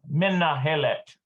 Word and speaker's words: מנהלת: And I think it's Menhelet. That's how you pronounce it. Menhelet. Yeah, but it's should be the principal. Yeah, menahelet. Menahelet.